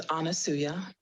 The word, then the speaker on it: Anasuya: of wisdom thank you my name is anasuya it reminds it rhymes with Hallelujah and I am called